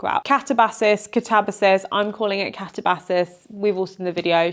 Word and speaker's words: Katabasis: Katabasis, I'm calling it Katabasis. We've all seen the video. She doesn't mind how anyone pronounces it.